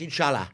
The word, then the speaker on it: inshallah: One day, with in God's grace, inshallah. Inshallah. Did I say that correctly? You absolutely did.